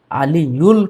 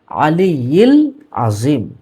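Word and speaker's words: العلي العظيم: ইল্লা বিল্লাহিল আলি আজিম এখানে আমরা ভুল করে থাকি লা হাওলা ওয়ালা কুয়াতা ইল্লা বিল্লাহিল আলিয়ুল পড়ি অনেকেই না শব্দটা ইল্লা বিল্লাহিল আলি আজিম আলিল আজিম নিশ্চয় বিষয়টা বুঝতে পারছেন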